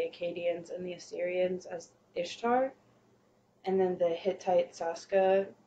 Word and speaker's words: Ishtar: known by the Akkadians and the Assyrians as Ishtar. And then the Hittite Saska, she becomes their goddess of fertility, war, and healing. Yeah, I do know. That name Ishtar Yeah.